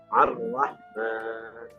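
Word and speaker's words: الرحمن: Ar-Rah itu an, nun mati ketemu ra. Dibacanya Ar-Rahman.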